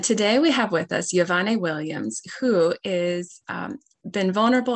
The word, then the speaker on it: Wyvonne: Oh, so my name is Wyvonne. Yes, pronounced Wyvonne.